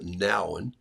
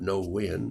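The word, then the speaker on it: Nouwen: now it's n o u w n it's pronounced now okay not no when but uh what I do is when I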